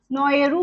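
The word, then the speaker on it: Naoero: First of ऑल इसने अपना change नेम जो है नौरू से चेंज करके नोएरू कर लिया है, right? As per there cultural pronunciation, जो एग्जैक्ट प्रोनाउंसिएशन है उस पे मूव करते हुए इन्होंने अपना नेम जो है चेंज किया.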